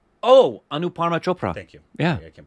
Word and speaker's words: Anupama Chopra: Anupama Chopra. Thank you. Yeah. I can't pronounce her name.